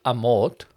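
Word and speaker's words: Amorth: Exorcist Y and what happens is Father Gabriel amort is the Pope's Exorcist right that's how you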